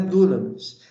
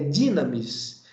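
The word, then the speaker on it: δύναμις: Da mesma forma que dunamis não é dunamis, é dinamis. Daí que surge a palavra dinamite.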